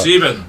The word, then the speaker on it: sieben: How do you say in Dutch? Siva. Siva. Yeah, that was my Siva. hardest number to get, Siva. Sieben.